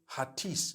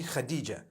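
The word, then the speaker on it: Hatice: I would say Hatis for that. No, it's actually Khadija.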